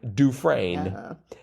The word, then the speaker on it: Dufresne: Andy Dufresne's last name is pronounced like Dufresne. He spells it out And I second Gene's motion that Mike should watch the movie.